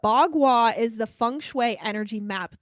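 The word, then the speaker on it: bagua: about this as well this is b a GU UA that's how you spell it but bwa is the funu energy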